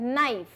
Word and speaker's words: knife: नाइफ. नाइफ की spelling होती है KNIFE लेकिन उसमें K साइलेंट होता है.